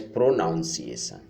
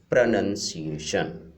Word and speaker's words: pronunciation: Many times some people pronounce the pronunciation as pronunciation. That is wrong, not pronunciation, that is pronunciation.